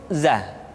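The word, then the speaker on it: ذ: rohani roh Hai selanjutnya huruf dza diucapkan dengan cara ujung lidah kita berada di antara dua gigi seri bagian atas dan bagian bawah Hai Aza Hai menyerupai dengan pengucapan huruf z di dalam huruf latin tetapi ingat huruf dza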